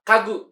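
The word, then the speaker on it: 家具: Jawabannya yang mana cara bacanya? Yang betul adalah kagu, yaitu adalah perabotan rumah sendiri ya.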